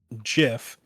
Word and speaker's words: GIF: So it's the hard G also just flows better. GIF GIF gif. Also, I'm pretty sure that if someone went around calling it GIF, then a peanut butter